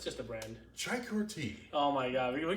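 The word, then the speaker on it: Çaykur: No, that's how you pronounce chai? Oh, well, that's the brand. Yeah, what's the... It's called Chaikur. Chaikur? Yeah, it's just a brand. Chaikur tea.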